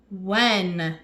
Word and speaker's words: when: When. Very good. That H is silent when we see W and H together.